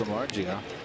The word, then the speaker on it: Samardzija: That was Latos against Samardzija. Did I pronounce that correctly? Samardzija, yeah, he's he's one of the hard throwers